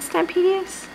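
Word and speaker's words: Stampendous: Is it Stampedious?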